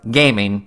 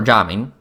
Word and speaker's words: Gaming: get our new 4-star, Gaming, which I know his name spells gaming in English, but in his actual pronunciation of his name is Gaming, or Jaming.